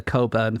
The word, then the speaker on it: Cockburn: Because it's named after the Coburn family, but Coburn is spelled cockburn.